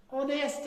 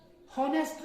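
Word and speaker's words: honest: ऑनेस्ट है, हॉनेस्ट नहीं पढ़ते हैं। अक्सर लोग इसको हॉनेस्ट पढ़ते हैं।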